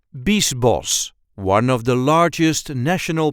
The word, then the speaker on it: Biesbosch: the way we say Beast boss Beast boss there is a light emphasis on the first syllable Beast boss Beast boss Beast boss in this case the CH is just pronounced as an S I hope this video